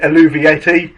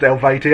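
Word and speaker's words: Eluveitie: the Origins album tour and um I had pronounced it aluvieti in front of the like singer the vocalist the bloke even that's the word I'm waiting for and he went uh it's it's pronounced Elvati.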